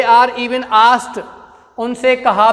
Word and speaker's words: asked: और ASKED, इस शब्द का प्रोनाउंसिएशन होता आस्क्ड। क्या होता बच्चों, आस्क्ड। ये डै नहीं बोलता है, पीछे टै बोलता है। क्या बोलता है, टै। आस्क्ड नहीं बोलेंगे, आस्क्ड बोलेंगे इसको।